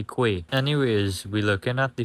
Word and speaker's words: quay: For some reason, this word is pronounced as key and not qu. But guess what? I going to say quay.